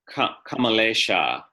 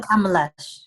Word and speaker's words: Kamalesha: I don't know where the name came from, but in Sanskrit it would be a feminine name spelled like this, Kamalesha. Okay. I was told Kamalash.